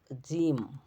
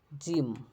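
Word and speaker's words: gym: এজন্যে সিটি শহর ফানি মজার হ্যাপি খুশি পলিসি নীতিমালা বেবি শিশু ব্যতিক্রম এক্সলেবল শব্দের উচ্চারণ আই না হয়ে ই হয় যেমন জিম জিম এটা ব্যতিক্রম জিম মাইদ মাই ত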